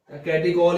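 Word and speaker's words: catechol: Common name क्या हो जाएगा इसका नाम होता है कैटिचोल, कैटिकॉल ही बोल दो, प्रोनाउंसिएशन में थोड़ा सा गड़बड़ी हो तो देख लो, मैं तो कैटिचोल बोलता हूं, थोड़ा याद रहता है इस बहाने।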